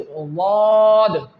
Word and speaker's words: ض: And the 4th word and the 4th letter, which is Daad, this letter will pronounce when the sides of your tongue, you can see that these sides when touch your pre-molars, then the Daad will pronounce.